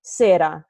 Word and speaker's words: sera: I'm like, oh, I freaking And how you spell it, it's like with an R. Like for English people, that's S-E-R-A. No, for English speakers, I would put a D there.